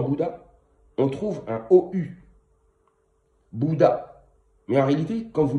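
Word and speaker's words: Buddha: Bouddha. Mais en réalité, quand vous lisez bien, en réalité, ça se dit, le Bouddha s'écrit avec un U et qui se prononce OU.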